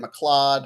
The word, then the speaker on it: McLeod: It's pronounced McLeod.